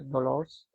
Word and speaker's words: Dolors: Porque si trabajas en una farmacia y te llamas María Dolores, en catalán, ¿no? Se llama María Dolors.